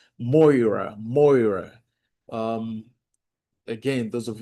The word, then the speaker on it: Moira: And the last one is what they call moira.